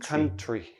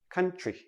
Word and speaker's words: country: for a few letters when we have t r t r together usually sounds like c-h-r so we don't say country we say country tree like a tree